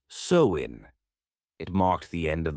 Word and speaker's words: Samhain: Over 2,000 years ago, in the lands we now call Ireland, Scotland, and northern France, the Celts celebrated a festival called Samhain, pronounced Samhain.